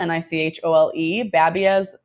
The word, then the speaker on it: Nichole Babiez: It's spelled Nichole, Nichole. Babiez is spelled like babies with a Z, Babiez. So I always introduce myself as Nichole Babiez because that's what people read it as.